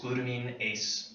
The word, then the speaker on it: glutaminase: If it's ever hard to say glutaminase, because it takes practice, believe me. I said it wrong 4 times today. It's just glutamine ACE, and that's good.